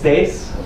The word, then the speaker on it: Thijs: that being said hi my name is face yes that's the way you pronounce if I would convert